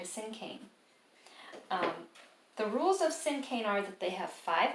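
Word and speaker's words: cinquain: usually rhyme it's called sing cain and i know this word looks like sing queen because it has the q u in there but you do not pronounce it that way you pronounce it sin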